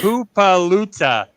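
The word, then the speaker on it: Hippolyta: Hoopaluta is actually her mom's name. That's how you pronounce it. It's spelled Hipplyta. That's Hoopaluta is how you're supposed to pronounce it, apparently.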